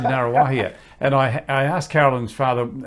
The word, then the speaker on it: Ngaruawahia: And a long story, but Narrawahia.